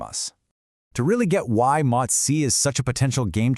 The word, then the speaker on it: MOTS-c: We're going to talk about a really fascinating peptide called MOTS-c, and that's pronounced MOTS-c, and how it might just be a key piece in solving this whole metabolic puzzle.